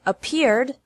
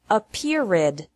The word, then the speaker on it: appeared: Appear has two syllables, and appeared also has two syllables. Don't pronounce it appeared with three.